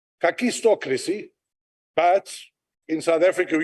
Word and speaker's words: kakistocracy: are inept and incompetent that's a Greek word it is pronounced kakistocracy but in South Africa who use the South African uh vernacular so it's a kakistocracy thank you Verizon if